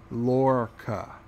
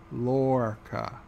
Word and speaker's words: Lorca: Commander Iron Wolf is telling me it's pronounced Lorca. Lorca.